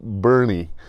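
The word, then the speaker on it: Boerne: guess that it's pronounced bernie it looks like born or something anyway nietzsche i i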